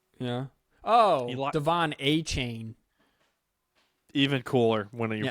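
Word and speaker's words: Achane: three six and seven cam Smith Devon Akeem akane probably running back Texas A M yeah oh Devon a chain even cooler when you pronounce it correctly it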